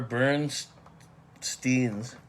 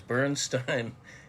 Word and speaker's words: Bernstein: Stein took the hard I pronunciation of EI in his last name, Elmer.